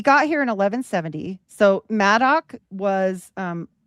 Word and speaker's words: Madog: So Maddo was um like here they either spell it mad dog but it's like sounds like Maddo was according to folklore